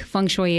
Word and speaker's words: feng shui: So think of bok shui. Bok choy, feng shui.